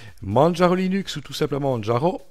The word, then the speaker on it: Manjaro: Manjaro Linux, ou tout simplement Manjaro, prononcé comme dans Kilimanjaro, est une distribution basée sur Arch Linux.